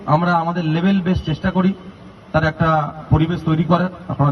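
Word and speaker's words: 空手: Karate কথাটা Japanese কথা। এর রিয়েল প্রোনাউন্সিয়েশন হল করাতে। করা মানে এমটি আর তে মানে হাত। করাতে মানে খালি হাত। আমরা ইংলিশতে বলি কে আর এটি ক্যারাটে।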